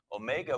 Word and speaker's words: Omega: And as you know, because you've been many times, we have 4 official languages, but where Omega was born, it was on the French part.